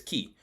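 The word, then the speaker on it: Kiiy: want to know is k i i y pronounced as key k i i y supplement .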